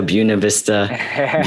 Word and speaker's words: Buena Vista: to ask later which is how do you pronounce buena vista buena vista vista yeah and i went there over the